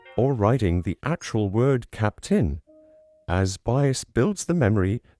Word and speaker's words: Cap'n: I don't think most people would pronounce it cap in when they actually say it or while they type or write it out. Of course, they pronounce it capped in, and in some cases,